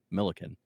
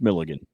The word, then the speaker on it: Millikin: Mill Milliken. Right. Not according to my dad. Oh. It's Milligan. You want to turn on Milligan? Like, well, there's Milliken. Is that what he meant? No, he said Milligan.